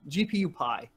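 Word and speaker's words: GPUPI: or What GPU pii the freaking GPU piie there you go that's how you say it yeah and Keith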